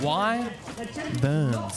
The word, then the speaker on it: Wyverns: It's pronounced Y Burns. Wyvern Burns. There we go. Thank you, Cat, for And also Cat, how are you? It's good to see you. Why Burns? Y and then a V.